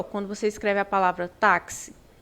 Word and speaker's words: táxi: Assim, ó, táxi. Táxi. Então, esse KS aqui tem som de X.